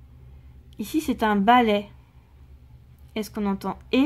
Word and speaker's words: balai: Attention, beaucoup de gens se trompent. On a souvent tendance à dire un balai. Moi, c'est ce que je dis souvent, mais en fait, il faut bien le prononcer « est ».